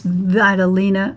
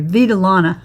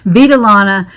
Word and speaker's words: Vitalana: It's called Casablanca Oasis Vitalina. I'm sorry, Vitalana. I pronounced that wrong. Vitilana from Knit Crate.